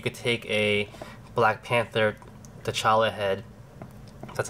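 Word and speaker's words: T'Challa: I mean you could take a black panther tala head that's how you say it and use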